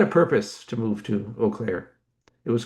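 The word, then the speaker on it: Eau Claire: We didn't know how to pronounce Oaklair. We pronounced it Uklair.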